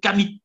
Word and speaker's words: Kamit: Bon, il y a des gens qui prononcent Kemet, on peut, d'accord, mais ce n'est pas une faute de dire Kamit. On dit Kamit. Moi, je préfère dire pour cette expression Kamit.